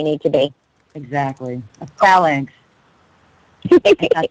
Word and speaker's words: phalanx: A phalanx.